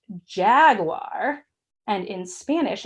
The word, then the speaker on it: jaguar: we would say an H so Jaguar or ha guar let's say it together hug whaaah ha guar